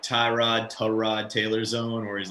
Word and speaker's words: Tyrod: living in that like tyrod taylor zone where he's like it's actually tarad but i don't care how you pronounce it i think kamara is